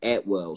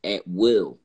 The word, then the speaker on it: Atwell: my last name is Atwell so when I looked up you know at well you know it you know I came to the uh uh saying that saying it's actually pronounced at will and it's a British